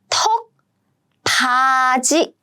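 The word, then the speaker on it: 턱받이: I see 디귿 here with 이. Then they are combined as 지. So it means beep, and the pronunciation is 턱바지.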